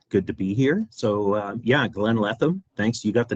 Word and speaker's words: Glenn Letham: I have Glenn Letham. Glenn, please introduce yourself. Tell us who you are, what you do. What's your problem? Hey, good morning, Renee. Good to be here. Yeah, Glenn Letham.